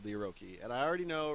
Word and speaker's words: Orochi: tackling another little beauty by Razer called the oroki and I already know right now some of you going to Flame me in the comment section saying oh it's pronounced Orochi or it's pronounced this or it's pronounced that